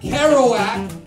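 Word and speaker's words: Kerouac: really quiet a a caroak rhymes with Pontiac caroak recognition odd politics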